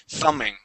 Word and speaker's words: thumbing: next word is thumbing the B is going to be silent we do not pronounce that b thumbing thumbing try that thumbing